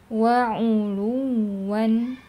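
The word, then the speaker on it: عُلُوًّا: Wa'uluwan, wa'uluwan, wa'uluwan ya. Waw ada tasydidnya, jadi ada nabernya, tapi dia tetap lembut dibacanya karena sifat liniyah tadi.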